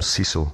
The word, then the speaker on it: Cecil: Um I think it was Sir William Cecil I think remember often pronounced Cecile but he he was